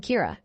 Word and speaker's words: Kira: person behind this and calls him Kira which is the Japanese pronunciation of the word killer some people are in